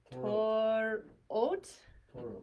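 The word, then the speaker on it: תורות: So we have, let's just do the tav sound with holam vav. What would that make? Torot.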